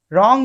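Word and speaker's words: wrong: जैसे कि आर वाले में एच हमारा था साइलेंट, इसी तरीके से निट में हमारा के साइलेंट है, रॉन्ग में हमारा डब्ल्यू साइलेंट है, डाउट में हमारा बी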